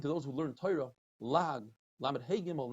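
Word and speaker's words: לעג: Rav Papa says lag, even though it's spelled lamed hey gimel, we read it lamed ayin gimel.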